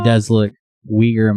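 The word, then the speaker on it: Uyghur: It does look Weaguer Muslims. Spell that like W I E G R. I don't know how you spell it to be honest with you, but something like that. Weaguer. Weaguer. Mm. No wiger, right? Oh, no. It's spelled with a U. Ui G H E. Ui G H U R S. I don't think I've ever seen it spelled.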